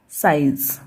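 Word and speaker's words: size: को आई ही पढ़ेंगे, तो साई, फिर जेड को पढ़ाता है ज, तो ये क्या हो गया साइज, स आई ज, साइज, और ये ई साइलेंट रहेगा, ठीक है।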